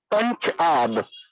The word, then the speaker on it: Punjab: Well, Punjab, we pronounce the state name with the two words, Punch-Ab. Punch means five, and Ab means rivers.